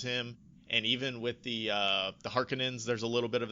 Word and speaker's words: Harkonnen: Harkonnen is typically mispronounced. People say Harkonnen.